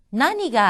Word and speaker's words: 何: 나니가 아리마스까? 나니가 아리마스까? 여기서의 무엇이라고 하는 것을 낭이라고 하지 않고 나니라고 읽었습니다.